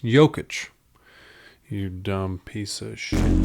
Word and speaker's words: Jokić: It's pronounced Jokić.